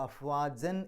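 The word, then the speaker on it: أفواجا: അഫ്വാജൻ എന്നാണ് അവിടെ പാരായണത്തിൻ്റെ അവസാനം. പക്ഷേ അവിടെ പാരായണം നിർത്തുമ്പോൾ അഫ്വാജ എന്ന് പറഞ്ഞിട്ടാണ് പാരായണം നിർത്തുക.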